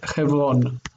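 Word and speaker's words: חברון: So that's how you say Hebron in Hebrew. It's Chevron.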